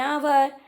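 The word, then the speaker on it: hour: An honest, an year, an आवर, N honourable. आप यहाँ पर देख पा रहे हैं कि एच को साइलेंट रखा गया है।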